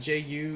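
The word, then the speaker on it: じゅう: And very similar to Q, that Ju is a mix of 2 symbols. It's G-U, but we pronounce them together as ju.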